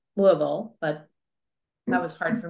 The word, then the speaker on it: Louisville: Printing House for the Blind, which is in Louisville, Kentucky. Well, they told me when I was there, it's actually pronounced more like Louisville, but that was hard for me to do, which is very close to Lexington.